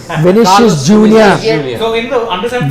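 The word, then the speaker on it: Vinícius: When I asked Shane, how do you pronounce this? Vinicius. Vinicius Junior.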